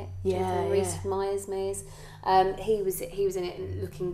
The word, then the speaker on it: Rhys-Meyers: Yeah, Rhys-Meyers.